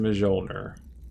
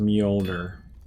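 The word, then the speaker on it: Mjölnir: I pronounce it Mjolnir. I think I've heard it pronounced Mjolnir.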